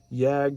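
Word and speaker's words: Jagd: jag that's texas t-e-x-a-s yag is actually german it means hunt in german and it's spelled j-a-g-d and you can check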